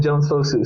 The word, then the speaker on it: Jones-Fosu: your kind words and you said it right the first time Justin Jones fosu so uh you are